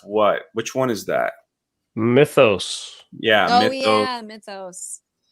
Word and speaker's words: Mythos: So am I pronouncing that right? Mythos? Mythos? No, it's Mythos.